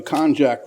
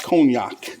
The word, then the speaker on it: konjac: All right, so, and these are made out of the konjac root, not cognac.